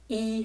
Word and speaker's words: 一: These are great examples that show how E remains in the first tone in certain conditions.